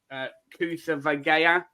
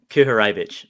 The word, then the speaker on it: Kuharevich: You've got, I can't pronounce his name, Kutha Vagea. Kuharevich. Yeah. Kuharevich, sorry. Yeah, that's all right.